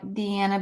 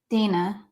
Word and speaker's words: Deanna: on dire Family Farms her name is spelled like Deanna but it's pronounced Dana oh I got it